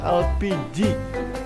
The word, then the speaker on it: LPG: tabung gas atau lpg pelafalan bahasa indonesia dari akronim bahasa inggris yang dibaca elpiji atau gas minyak bumi